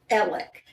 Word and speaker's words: Alex: of trouble right now his first name is spelled a-l-e-x alex so he goes by are you ready for this ellick and the reason is